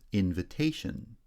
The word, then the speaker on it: invitation: Invite becomes invitation. Secondary stress on the first syllable. Primary stress shifts to the third syllable.